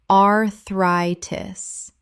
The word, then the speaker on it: arthritis: defibrillator defibrillator Word 63, arthritis common mispronunciation arthritis correct pronunciation arthritis The stress falls on the second syllable. Thri sounds like the word try.